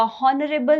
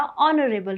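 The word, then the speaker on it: honourable: हॉनरेबल नहीं होता, ऑनरेबल होता है।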